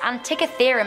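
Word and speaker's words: Antikythera: coming into number six we have the mysterious Antica theorem mechanism yay I said it right this ancient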